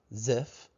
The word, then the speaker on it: Ziff: The idea, tzaphah, okay, zaphah, zaf-ah, ziff. Joseph Smith is sounding out phonetically a Hebraic word, zif, an overlay, something that is overlaid.